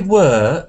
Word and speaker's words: were: you where were you your were is not moving into the bird enough it is chair bird chair bird who where were you once